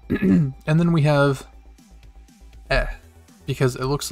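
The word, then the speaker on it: え: in romanji it's the letter i but it's pronounced e like the markiplier meme e and then we have eh because it looks like a fancy bird or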